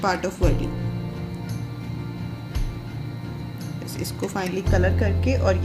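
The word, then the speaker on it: वारली: इसका actual pronunciation वार्ली ही होता है इंडियन उसमें, लेकिन इंग्लिश में जब हम लोग बोलते हैं तो कई बार इसको वर्ली भी बोला जाता है, but that is not correct. वार्ली इज़ the exact pronunciation of this art form.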